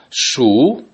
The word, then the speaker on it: 鼠: Shu, the third tone.